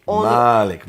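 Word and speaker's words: مالك: Malik, Yes. a long A with a dagger aleph that's added at later on. And that dagger aleph makes it owner.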